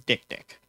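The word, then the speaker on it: dik-dik: And yes, that that name is pronounced exactly like you think it is. It is dick dick.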